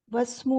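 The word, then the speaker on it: اسم: Starting में इस्मु है तो उसको हम प्रोनाउंसिएशन में यूज करेंगे, इस्मु बोलेंगे। और बाद में क्या है? यहाँ पर वस्मु हो जाएगा। लिखने में क्या है कि हमजा लिखा हुआ है, लेकिन उसको म्यूट करके आगे बढ़ जाएंगे, ड्रॉप कर देंगे।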